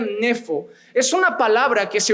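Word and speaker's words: νήφω: La palabra sobrio en este contexto, la palabra griega se pronunciaría nefo.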